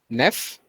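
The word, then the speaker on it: neuf: as wheat wheat wheat number nine is pronounced as neff neph and number 10 is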